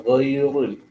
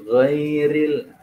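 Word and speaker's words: غَيْرِ: Nah, kalau dia berharokat kasroh, maka itu dia tipis. Banyak ghairil, bukan ghairul, bukan gitu, ghairil.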